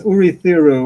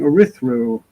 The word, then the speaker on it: Urithiru: they're palindromes so so i realized it was urithiru or something but i kept saying erythro yes with elite names